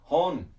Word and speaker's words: 本: yes it is also the kanji for book pronounced hon but in this case